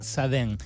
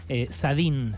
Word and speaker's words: Sadin: ensayista se llama Eric saden sadin se escribe con n final acaba de editar caja